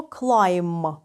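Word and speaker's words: climb: і ще один момент слова клайм На кінці у нас буква сполучення м бі але вимовляємо ми тільки м тому що буквосполучення м B завжди вимовляється як м у слові ягня або баранина Лем пишемо L La MB але вимовляємо тільки м Лем наступне дієслово follower перекинутися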